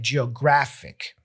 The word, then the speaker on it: geographic: These usually have the stress on the penultimate or second to last syllable. For example, words like geographic. You see, geographic. It ends in ik, right? Fic. But the stress comes before the last syllable.